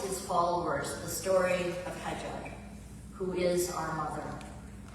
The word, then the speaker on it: Hajar: followers the story of Hajar, who is our mother. In English, often she's referred to as Hagar. We say Hajar, is how we pronounce her name.